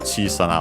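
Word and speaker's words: chiisana: Also accented chisana on the first syllable.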